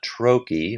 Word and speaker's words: trochee: That's called a troy. Rhymes with hokeyp pokey.